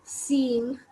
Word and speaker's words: cinq: Then we have 5, which is written as CINQ, which is seeing.